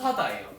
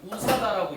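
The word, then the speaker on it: USDA: 우사다예요. 우사다라고 읽어요. 우리나라에서.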